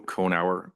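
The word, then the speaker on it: Cohenor: My name is Conower. You spell that C O H E N O R.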